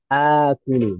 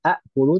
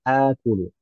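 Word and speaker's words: آكل: dijadikan satu Hamzah panjang jadi akodza bukan aodza bacanya seperti akala yaakulu Ana akulu bukan Ana aulu tapi Ana akulu k dua Hamzah berturut-turut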